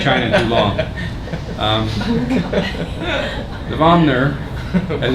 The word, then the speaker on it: vomer: the position for the vomer is slightly more posterior the vmer the vmer you're adding another syllable in there I thought it was